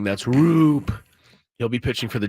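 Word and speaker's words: Roupp: Looks like Raup, but it's pronounced Roop. That's not Boo, they're saying. That's Roop.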